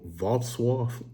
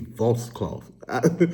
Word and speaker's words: Wrocław: Wrocław. I think it's Wrocław. It sounds like washcloth almost.